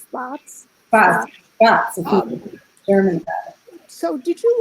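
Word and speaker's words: Spatz: um you can't i i pronounce his name in my head of spats but it's spots wow so did you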